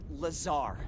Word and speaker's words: Lazar: Rangers, this is Laser Blazer, a researcher in our R&D department, and its sales liaison. It's Lazar, actually. Accent on the czar.